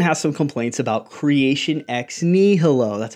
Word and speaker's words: ex nihilo: video here Stephen has some complaints about creation ex nihilo that's how you're supposed to pronounce it creation out of nothing if you're